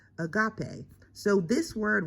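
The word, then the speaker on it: ἀγάπη: And the word is pronounced agape. So this word right here is agape.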